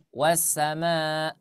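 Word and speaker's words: والسماء: ya addah ya wassama wassama bukan Ain ya wassama berhentikan saja suaranya tidak usah ditekan wassama ahah cukup seperti itu sama betul ya jadi jangan sampai dia menjadi huruf huruf Ain lanjut wulumat ya azzak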